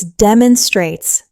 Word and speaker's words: demonstrates: The pronunciation is demonstrates. Four syllables with stress on that first syllable.